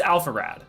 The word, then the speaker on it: Alpharad: So, what it Alpharad? Is that how you say it? Alpharad. Yeah, it's Alpharad.